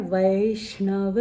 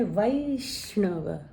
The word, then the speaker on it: वैष्णव: अब ये है वै, ए और ऐ दोनों तरह से इसका उच्चारण होता है, जैसे वैसा। लेकिन अगर आप उन्हें वो गाना सुना है वैष्णव जन, तो उसमें वैष्णव बोला गया है, हालांकि वो गुजराती में है।